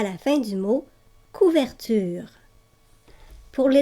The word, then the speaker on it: couverture: Pour la graphie UR dans couverture, je sais que le E muet en fin de mot fait prononcer la consonne qui est placée avant le E. Ici, dans le mot couverture, tu entends bien la consonne R.